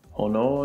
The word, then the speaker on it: 炎: Hono no Mai. You remember how earlier I said that fire can be written as hi? Well, it can also be written as hono.